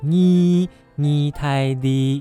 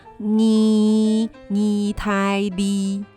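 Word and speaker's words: 意大利: 3、 4 的 2，那个 2 的发音是一样的，意大利。海陆腔，意大利。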